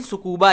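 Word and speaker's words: Tsukuba: Okay, बेले टू is basically what a particle accelerator experiment located in सुकूबा Japan. Okay, अब T silent रहेगा, सुकूबा Japan बोलेंगे।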